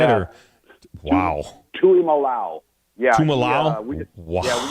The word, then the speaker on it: Tuimalau: This kid for Ohio State, what is it, JT Tumalo? Is that how you say it? Or? Wow. Tuimalau.